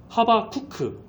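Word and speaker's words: חֲבַקּוּק: 어 하바국의 히브리어 본래의 발음은 하바쿠크 이제 하바크라는 동사에서 나온 건데 하바크라는 동사의 의미는 뭐냐?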